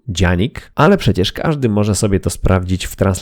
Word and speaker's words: Canik: nie jest poliglota bo wiem że turecka wymowa to faktycznie coś w stylu dzianig ale przecież każdy może